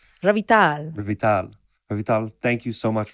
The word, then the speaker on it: Revital: I want to get the emphasis on the right syllable. Revital.